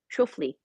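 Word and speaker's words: Schauffele: And then there was Kitayama is playing with Zalatoris and Schofli. Schofli. You have to watch out how to pronounce it because there's Scheffler too.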